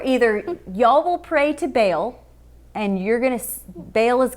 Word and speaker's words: Baal: this other god named baal b-a-a-l baal i think that's how you pronounce it does that seem right